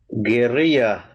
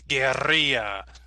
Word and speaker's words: guerrilla: So yes, if you want to sound like a Spanish speaker, so one more time, Belisario, say it again in Spanish. Guerrilla. All right, everybody, let's try it. Guerrilla. Guerrilla.